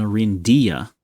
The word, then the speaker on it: Orindia: Oh, I'm mispronouncing it. It's Orinda, the angel, and Orindia, the domain. Rinda Ares, the sub-kingdom. Okay. So the realm is named after the angel with no IA.